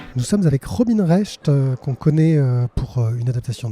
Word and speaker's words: Recht: En effet, Robin Rest, oui, c'est comme ça qu'on prononce, on s'est tous fait avoir.